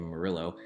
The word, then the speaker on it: Murillo: one of my favorite people Pastor Dave Murray Oh here in San Antonio he pronounces his last name Murillo Dave Murillo is going to be